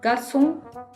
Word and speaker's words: garçon: in car, comme, cuisine.so, we use ‘c’ with cedilla in order to get the sound s. example garçon, leçon.